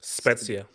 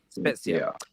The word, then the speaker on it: Spezia: Here, this says, I watched him play for, is it pronounced? Spezia. Spezia.